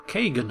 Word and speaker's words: Kagain: So here is Kagain. I'm on it. Greetings. I am Kagan. What can I do for you? Or Kagan, as he pronounces it.